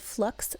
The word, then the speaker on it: f.lux: There's an app, it's like a desktop app called Flux, and it's spelled F.Lux.